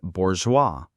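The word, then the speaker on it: bourgeois: And number 10 is bourgeoa. B O U R G E O I S. Bour. The IPA is bour in the UK or bourgeoa in the US. That final s is silent.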